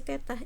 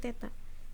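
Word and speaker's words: theta: ya kamu tinggal ganti si Teteh ini bacanya Teta Teta Ini Teteh itu artinya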